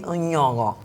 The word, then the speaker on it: Nyong'o: us a clip, basically teaching us how to pronounce Lupita's name correctly. And it's actually Nyong'o.